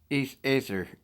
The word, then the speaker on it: Aether: Ether, pronounced Aether, is one of the primordial deities.